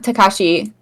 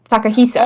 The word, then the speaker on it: Takahisa: No, not Takashi. Takahisa. Oh. Okay, no, found it. It's this is what I'm looking at. Akihiko Yoshida. Oh, I'm looking at somebody else completely. Yoshida. Who's Takahisa?